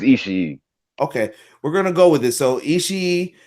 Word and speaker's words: Ishii: I think it's Ishii because there's two I's at the end, though. Okay, right. And the one thing I know, like my girlfriend, or actually my ex-girlfriend, is Japanese, and I've been learning Japanese. And the one thing that I've learned is that, and she's taught me, is that every syllable you pronounce. So Ishii.